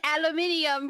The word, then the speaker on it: aluminium: Why is aluminium pronounced aluminum?